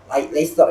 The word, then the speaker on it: Leicester: Nah kalau yang gue lihat dari Leicester ini kan Leicester ya bacanya ya, itu kan mereka cenderung